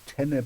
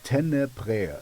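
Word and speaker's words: Tenebrae: you have a fun uh tenner it's t e n e b r a e uh in in German I would say bre like an air um I don't know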